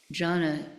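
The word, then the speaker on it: jhāna: Jhana means meditation. They have these, it's spelled Dhy, but it's pronounced jhana.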